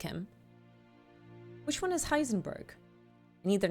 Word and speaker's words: Heisenberg: plank beside Madame curi heisen not heisen Borg Heisenberg okay uh yes we